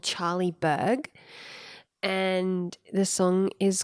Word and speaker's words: Burg: Berg. Okay. Like as in burger. Yeah. B-U-R-G. Yeah. Okay. Totally. Just checking. I think 'cause so. How else would you? Berg. Berg. No, Berg. Berg. Charlie Berg.